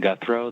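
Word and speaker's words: Guthreau: they begin uh yes my name is guthro that's spelled v like victor i-n-s-o-n last name guthro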